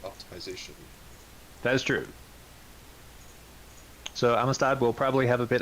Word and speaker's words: Amistad: Our next matchup is Space Cat versus Amistad, I think is how you pronounce that. Amistad. Yes. Spanish for brotherhood.